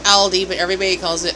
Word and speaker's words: Aldi: changes in pronunciation but they're German companies German Brands so they're like um